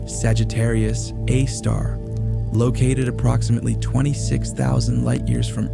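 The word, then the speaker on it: Sagittarius A*: Our own Milky Way galaxy hosts a supermassive black hole known as Sagittarius A, pronounced Sagittarius A star.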